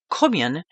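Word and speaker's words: Caoimhín: The Gaelic pronunciation of St. Kevin's name, Cummion, means fair begotten or of noble birth.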